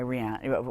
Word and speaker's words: Rihanna: I am not up on my Beyonce or my Rihanna. I don't even know how do you pronounce her name? Rihanna.